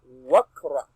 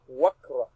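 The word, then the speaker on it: واقرأ: Here we are going to read it as waqra. So this alif becomes silent letter. It becomes ineffective. It becomes passive, no longer active. So we now read as wakra. We connect one with kafun sukun.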